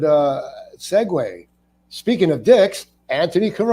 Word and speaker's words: Anthony: pronounce it Anthony yeah Anthony like Mark Anthony people say it's pronounced anony an not Antony because then they go